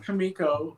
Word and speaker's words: Comico: was the first question comico or kamiko it's it's pronounced kamiko uh remember the the